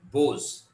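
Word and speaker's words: Boz: He wrote, he used the, pseudonym Bose, right? B-O-W, B-O-Z. So in the name, the first time he wrote. The single syllable name came from the childhood rendering of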